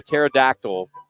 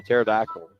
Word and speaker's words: pterodactyl: Why can't you hear a pterodactyl go to the bathroom? Why can't you hear a pterodactyl go to the bathroom? They're extinct. No, the P is silent.